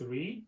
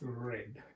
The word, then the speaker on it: read: the pronunciation it's different when read in the base form we say it's read but when it comes past in participle forms we say it's red instead of read but same pronunciation then